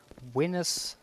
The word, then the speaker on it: Venus: if that would be pronounced in Latin V is um pronounced like the English W so that will be and C is K so that and that a AE is like a a in Swedish winus Linus that will be is